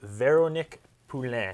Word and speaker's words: Veronique Poulin: watching stripped down we're spending 60 minutes with vero Nick poulan am I saying it right yes I'm very worried about mispronouncing your name tonight a difficult one yes